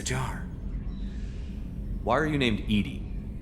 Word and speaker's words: EDI: why are you named edie edie is the phonetic pronunciation of edi that is an acronym for enhanced defense intelligence